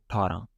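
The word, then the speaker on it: ਅਠਾਰਾ: Like another word athara, all right? Athara means like 18, all right? 18. Athara. We don't say a. We say just We just say thara, all right?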